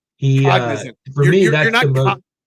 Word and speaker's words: Cognizant: He for me, the win that he had at the Cosmic, I can't pronounce it, Cosmicson. Cognizant.